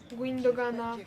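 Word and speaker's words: Gündoğan: De Jong został zmieniony na Gundogana, no różnie mówią na niego. Chociaż ja wymawiam Gundogan.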